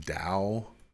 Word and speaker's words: Tao: yeah I think it's actually pronounced Dao um books character Winnie